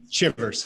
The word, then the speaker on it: Chivers: Shivers. Shivers. There's like two ways to say it, and I said it the wrong way.